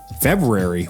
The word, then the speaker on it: February: on in a snowy February. Well, I said that weird. February. Yeah, you said the R. I can't even say it. February. I wanted to say it how it's spelled.